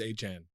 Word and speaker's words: Achane: Yeah, he said it's Achan.